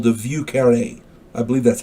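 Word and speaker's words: Vieux Carré: it's also called The V car I believe that's how it's pronounced VI e uux c a r r e and the accent is on that last e view UK carare I believe it's called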